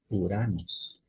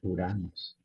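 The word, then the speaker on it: Οὐρανός: una una sola vocal en el ejemplo uranos no es Urano sino uranos se pronuncia oramos así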